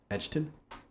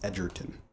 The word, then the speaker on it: Edgerton: vikander um joe uh edgerton that's a hard name to pronounce i'm not gonna lie edgerton because it's like you just want to say edge edgeton but it's edgerton uh that's how how